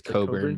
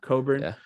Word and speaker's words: Cockburn: don't think i know it's not how you print cockburn how do you pronounce it better it's coburn but coburn uh spelt cockburn he is huge she's